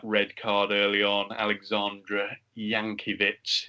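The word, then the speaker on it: Jankewitz: card early on alexandra yankee bits is the pronunciation i'm going for on his on his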